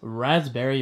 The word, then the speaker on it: raspberry: Delicious raspberry blueberry. It's always fascinating to me how that P in raspberry is silent.